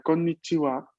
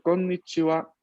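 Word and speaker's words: こんにちは: y la sílaba ha, pero que mantiene su pronunciación histórica de wa. Así que a pesar de que la escribamos con konnichiha, esto se pronuncia konnichiwa, konnichiwa, Konnichiwa.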